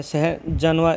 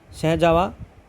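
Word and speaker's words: सहजनवा: ठीक है, या सहजानवा, कुछ भी बोलिए आप, सहजावा, एन साइलेंट रख के बोलोगे सहजावा होता है।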